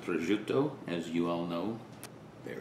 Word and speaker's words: prosciutto: salami this is a receptor i'm italian it's pronounced prosciutto as you all know there it is that